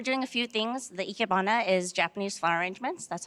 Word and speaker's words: Ikebana: The Ikebana is Japanese flower arrangements.